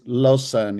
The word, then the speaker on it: Lausanne: How do you pronounce this? Lausanne? Lausanne, yeah, Lausanne?